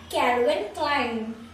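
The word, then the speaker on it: Calvin Klein: तो इसका जो सही प्रोनाउंसिएशन है ये है कैल्विन क्लाइन कैल्विन क्लाइन, क्या है कैल्विन क्लाइन क्या है कैल्विन क्लाइन।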